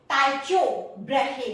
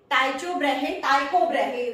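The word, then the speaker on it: Tycho Brahe: इस थ्योरी को बहुत ही जोरदार सपोर्ट मिला था टाइचो ब्रेहे ने। टाइको ब्रेहे प्रोनाउंस करना चाहिए इसको।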